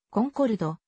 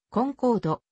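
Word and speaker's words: Concorde: スペリングとなったただし英語圏での発音はフランス語式のコンコルドよりはむしろ英語のコンコードコンコードの読みに近いなおフランスもの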